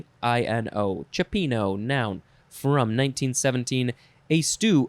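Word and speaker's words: cioppino: stands for next is chipino chopino it is spelled c-i-o-p-p-i-n-o cipino noun from 1917 a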